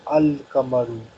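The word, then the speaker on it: القمرُ: So in Haruf al Qamri we pronounce Lam, but in Haruf al Shamsi we don't pronounce Lam. Okay? So Kamarun will become Al Kamaru.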